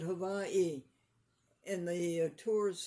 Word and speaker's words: Hawaii: A man was in Hawaii and he said to a native, "How do you pronounce it, Hawaii or Havi?" And the native said, "Havai?"